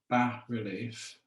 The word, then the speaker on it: bas relief: like to use is called ba relief which is spelled bas relief really it just translates